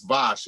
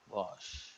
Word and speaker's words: Vaush: It's Vosh. You spell it VAUSH. VAUSH. Vosh.